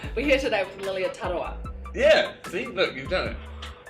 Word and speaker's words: Tarawa: Ta, and then like the R is like a D, so Tarawa. No. Yeah. Hi everyone, we're here today with Lilia Tarawa. Hi everyone, we're here today with Lilia Tarawa.